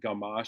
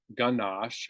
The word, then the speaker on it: Gamache: This, as I said, it's the first of, I think, 18 Inspector Gamache stories. And before I read the book, I thought his last name was Ganache, but it's spelled with an M, in fact.